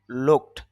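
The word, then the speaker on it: looked: বাংলা অর্থ হলো তাকানো লোকের সর্বশেষ যে উচ্চারণটা এটা ক এর মত হয়েছে আর এটা এটার শেষে যদি আমরা ইডি যুক্ত করি তখন লুকড ড না হয়ে তখন তার বাংলা উচ্চারণটা হবে ট।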